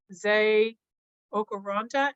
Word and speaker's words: Nze Okoronta: I would like to introduce Zay Okoronta, and I apologize if I mispronounced your name, and I look forward to your sharing today.